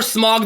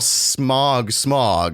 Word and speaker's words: Smaug: We are Smog the Dragon, but we give you content.